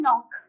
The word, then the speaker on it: knock: It starts with K, but the K is silent when you speak it, when you pronounce it. Okay. Next one, knock.